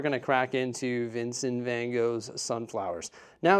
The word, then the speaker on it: Van Gogh: to crack into Vincent Van Go's sunflowers now is it vanoff or Van Go we're saying then go because that's how they say it here in North America now unfortunately when I